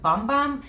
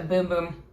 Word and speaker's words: Bum Bum: I honestly thought it was pronounced Bum Bum because it's B-U-M, but apparently it is pronounced a Boom Boom Cream.